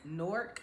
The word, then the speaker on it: Newark: Norc, New Jersey, you guys. All right, that's how you pronounce it.